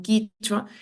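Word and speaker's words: Kichwa: escribe con k eh tampoco existe la vocal e ni o por eso no es kechu sino quichua y es interesante porque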